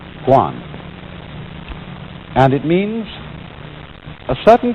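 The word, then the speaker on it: 觀: And that means seeing and the whole character is pronounced guan.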